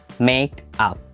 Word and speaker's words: make up: Make up. Make up. Ingat pronunciation-nya mesti dipisah ya, make up. Jadi bukan makeup.